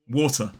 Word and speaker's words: water: But in a modern British RP accent, this word water would be pronounced water, w or t, water, ending in a schwa as an isolated word, water.